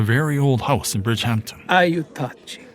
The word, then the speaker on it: Aiutaci: Aiutaci. Matteo says this with Italian inflection, accent on the second syllable.